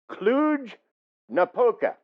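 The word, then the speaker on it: Cluj-Napoca: located near a city and I'm going to pronounce this for you clug napoca uh it's bounded on one side by the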